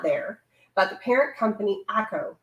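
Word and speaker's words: Acco: but the parent company akko acc oh i think that he pronounced it ako and they also owned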